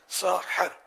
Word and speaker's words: سحری: عربی کے مشہور لغت القاموس میں ہے کہ ساحر اس کھانے کو کہتے ہیں جو صبح کے وقت کھایا جائے. ساحر, ہا پر زبر.